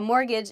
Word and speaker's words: mortgage: last week in class mortgage has a t in it but we don't say the t it sounds like mortgage like there's no t at all a mortgage is um the payment